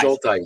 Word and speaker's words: Schultheiss: If it's helpful and convenient, the way that we do it in my family is shoal, like a shoal of fish. Dice rhymes with dice, so shoal dice.